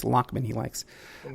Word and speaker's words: Lachman: Some people might pronounce it Lachman, but it's Lachman he likes. And that's how they pronounce it in Jersey.